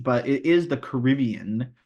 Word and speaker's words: Caribbean: Yeah, the Caribbean. Because, like, that's how they say it in the movie, is the Caribbean, but it is the Caribbean.